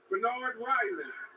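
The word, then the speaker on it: Bernhard Raimann: the indianapolis colts select bernard ryland tackle central michigan it is a fascinating story that is the correct pronunciation of his name come up with austin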